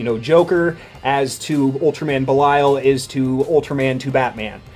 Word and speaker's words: Belial: the actual top tier demons in Hale is pronounced Vallejo ve Li Al Belial it is an old English word speaking English